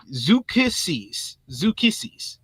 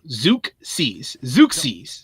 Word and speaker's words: Zeuxis: It's Zukissis. Yeah, if you say so. Zukissis. Yeah, Thank you. Yeah, I was like that first breakdown was horrible. I was like, that is more than one syllable that you are putting as the first syllable, Joel.